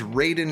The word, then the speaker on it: Raiden: Ryden Ryden Ryden yes he's Ryden in Metal Gear he's Raiden in Mortal Kombat one of them has the pronunciation wrong and I think it's the Mortal Kombat one uh but still